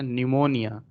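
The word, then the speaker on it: pneumonia: most important है यह भी पूछा गया है निमोनिया निमोनिया के स्पेलिंग में रखना पहले पिया जाता है फिर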